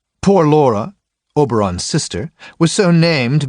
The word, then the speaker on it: Poor Laura: how is poor Laura poor Laura was always pronounced as one word poor Laura oberon's sister was so